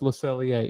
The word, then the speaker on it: Le Cellier: Le Cellier. And it's spelled L-E for you, Cell-I-R, but it's French. No, it's Le Cellier. It's literally means the cellar.